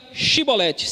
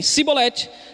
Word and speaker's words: chibolete: de Gileade lhe diziam Então diga chibolete se eles dissessem sibolete não podendo pronunciar corretamente a palavra eles o agarravam e